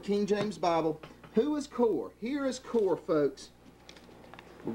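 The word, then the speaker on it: Kore: These are the spots in your feasts of charities, because we're fixing to find out who Kor is.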